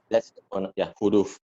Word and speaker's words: huruf: Actually, it's H. So huruf. Yeah. Like some people may pronounce it differently based on how they are trained to pronounce it. Because I have this, I do pronounce it sometimes with huruf. Yeah. But I usually pronounce it huruf. Yeah. It's almost silent H.